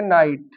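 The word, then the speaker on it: knight: इसी तरह नाइट, जैसे के बाद एन है और वावेल आ गया आई, नाइट होता है योद्धा। यहाँ हम के नहीं पढ़ेंगे, अगर इसको का नाइट पढ़ दो। इसमें नाइट में के भी साइलेंट है और जी एच भी साइलेंट होता है, नाइट होता है योद्धा।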